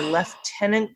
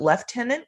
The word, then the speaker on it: lieutenant: pronunciation of the word in Canada and in Commonwealth we have some strange pronunciations for things so when we call the lieutenant governor left tenant governor yep even though